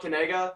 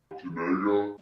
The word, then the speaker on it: Kanega: It's Kanega. You say it, Kanega. Kanega. Like that.